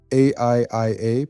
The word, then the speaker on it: AIIA: Welcome back to the Artificial Intelligence Institute Africa, AIIA, pronounced Aiia, Ubuntu Guild's videos on AI.